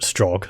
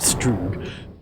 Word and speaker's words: Strogg: Right, and that guy pronounced it Strogg, so I don't know what that other guy was going on about Strogg.